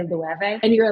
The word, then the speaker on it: Loewe: knows how to pronounce Loewe. Like, remember when nobody knew how to pronounce Loewe and you could really tell like a fashion person from a non-fashion person because they'd say low.